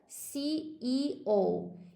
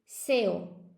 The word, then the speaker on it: CEO: When you say this thing in English, we have to pronounce all of the letters, okay, guys? In English, you have to say the CEO. You can't say SEO.